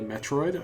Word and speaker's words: Metroid: thing or Metroid it's I always grew up pronouncing it Mitra right even though it's definitely Metroid I don't know why